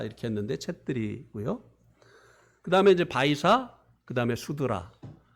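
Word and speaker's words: छेत्री: 근데 그거 우리가 발음 잘못하는 거예요. 챗들입니다. 그 네팔 그 앞에 나오는 단어가 이제 잘못해서 이제 크샤 이렇게 했는데 챗들이고요.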